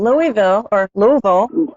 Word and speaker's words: Louisville: I said it maybe the Yankee way, Louisville. No, you're fine. You said it right.